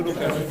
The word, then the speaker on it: Łukasz: The right pronunciation of your name is Łukasz, right? Łukasz, yeah. I had a friend that's it. Oh, Łukasz. So, Thank you, Lucas.